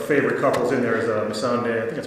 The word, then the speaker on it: Missandei: one of the favorite couples in there is Missandei. I think that's how you say her name, right? Yep, Missandei and Grey Worm.